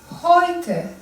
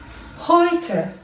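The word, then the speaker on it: heute: okunuyor yani D şöyle e u oy olarak okunuyor hoyte hoyte Ey ay olarak okunuyor maya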